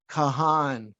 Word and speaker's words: Cahan: that hard yeah but it's not pronounced khan it's pronounced khan according to my father but when you look at the word it goes kahan kahan you know it's got two syllables anyway google the most